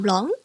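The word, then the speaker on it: 狼: ONG is pronounced like on from long, but a little bit longer. So example, long, which means wolf.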